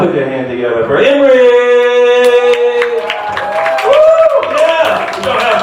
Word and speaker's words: Imre: So my name is Imre, and it's spelled just like you would expect it.